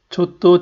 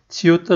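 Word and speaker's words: Giotto: 상승해 와 의 선구자였던 초 또 뒤 본 도내 를 만나보겠습니다 이름에 토토 라는 발음이 들어가서인지 한국에서는 지오토 라는 이름으로 부르기도 합니다 오늘은 초 또 라 부르도록 하겠습니다 초 또는 1567년 피렌체에서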